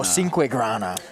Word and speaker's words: Cinquegrana: That is Brendan Cinquegrana. Cinquegrana. Oh, Cinquegrana. No N in there.